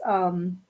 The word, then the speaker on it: Jagdana: But still, I'll spell that again. It's JAGDANA, Jagdana.